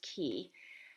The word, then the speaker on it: Qi: and seen it um i spelled it q i right like the word chi but pronounced key and i picked that